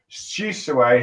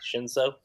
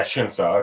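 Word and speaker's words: Shinsō: And it's revealed that Shisue has taken control of him and all that stuff with his voice quirk. You mean Shinso? Yeah, Shinso. Okay, sorry, I pronounced the name wrong.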